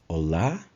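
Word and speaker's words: Olá: difference in pronunciation it's Ola and not ola the stress is in the last letter of the word Allah bondia bonda one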